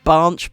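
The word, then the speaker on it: Binche: I believe they call it banche, but I call it binch because it's spelled B-I-N-C-H-E.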